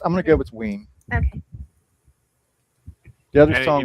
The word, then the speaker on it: Ween: Ween to rhyme with Yeah, I figured Dean.